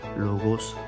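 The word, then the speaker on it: Logos: அதை வாசிக்கும் முறை பார்த்தீங்கன்னா லோகோஸ் எல் ஓ ஜி ஓ எஸ் லோகோஸ் என்ற இந்த வார்த்தை கொடுத்திருக்காங்க பாருங்க இப்போ லோகோஸ் அந்த கிரேக்க கிரேக்கத்தின் உச்சரிப்பு லோகோஸ் அப்படின்ற அந்த வார்த்தை அந்த வார்த்தையோட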